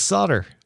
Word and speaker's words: solder: melty metal onto it that is pronounced in a difficult way. It's just solder. Solder. Yeah. But it's spelled solder. It's spelled solder. Yeah, but you just say it. Solder.